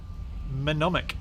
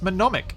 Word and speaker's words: Mnemonic: I've been saying Mnemonic's name or... No, it's not. Mnemonic. It's Mnemonic. Oh, man. Saying your name wrong for ages.